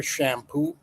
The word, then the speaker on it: Champoux: lines is called Peter Shampoo. Her name sounds like shampoo, but it's spelled with the French spelling. CHAMPOUX, shampoo.